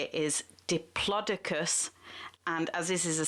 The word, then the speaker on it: diplodocus: bbc pronunciation pronunciation i can't pronounce the word pronunciation unit has decided that the correct way to say it is diplodocus and as this is a science broadcast i'm going to be saying diplodocus the correct way so plodicus was a sauropod